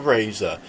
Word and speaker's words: Razer: And then we've got the Razer Goliathus. I always say Razer or Razer. It's clearly Razer, yeah, I say Razer. But then again, obviously, Razer is actually spelled with an O, so you get the idea.